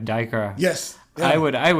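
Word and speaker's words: Duiker: Yeah, like even some of the names are completely different from the way, like Diker. Yes. Yeah. I would spell it Dyker.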